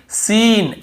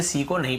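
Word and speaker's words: scene: और देखिए सीन, एस ई एन ई, सीन ऐसे पढ़ रहे हैं, यहाँ पर भी सी को नहीं पढ़ रहे, स्किन स्किन नहीं पढ़ रहे।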